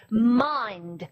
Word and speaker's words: mind: 또 여러분 제법 있습니다 mind라고 읽지 않고 어떻게 하죠 마인드 이렇게 읽죠 또 어떤게 있나요 이렇게